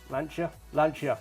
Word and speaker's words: Lancia: The Alfa Romeo GTA 1300 Junior, Mini Cooper S from 1964, the legendary 037 Lancia. Lancia, yes, that's how you pronounce it, sorry to the Italians.